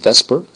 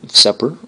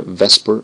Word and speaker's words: VSEPR: will be something called Vesper uh from here it looks like it's Seer but don't let your friends pronounce it seper make sure Vesper is the way we call it in the business and again this means